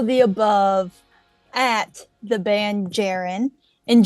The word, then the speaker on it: JAREN: above at the band jiren and jiren is spelled like Karen with a J so j a r